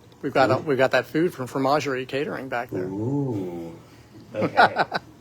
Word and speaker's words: fromagerie: I keep thinking it's formagerie, like they do magic with food, or I don't, formenagerie. I'm terrible with Yeah. pronunciation, so I'm sure I'm wrong. No, I'm sure you're right. I didn't speak French. I wish I spoke French. Anyway, fromagerie. Okay, tortured poets.